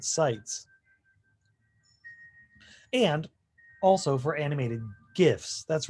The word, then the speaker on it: GIF: know where i stand in my politics it's pronounced gif and worse than that it's okay to put